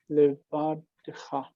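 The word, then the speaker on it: לבדך: Now this is a closed syllable because of the dagesh, and it's ah. Closed unaccented syllable requires a short vowel. So it has to be Patach?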